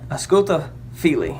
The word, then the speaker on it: Ausculta Fili: It's Ausculta Fili. Ausculta Fili is how it's pronounced.